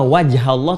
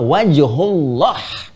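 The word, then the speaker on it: وجه الله: Bukan fathamma wajhallah, tapi fathamma wajhullah.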